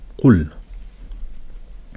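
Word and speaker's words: قُلْ: mets la petite dhamma pour faire le son ou. Qul. Et je mets ma petite soukoun pour dire qu'il y a une absence en fait de wa'il. Donc ça va être, on va le prononcer Qul.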